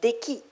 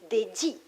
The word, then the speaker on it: Deki: Her name is Deki, but in Chinese it's Deji. Forgive my non-Chinese, Deji.